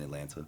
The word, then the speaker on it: Atlanta: Atlanta Atlanta Atlanta Atlanta Atlanta yeah no teeth if you pronounce the t's in Atlanta that's how I know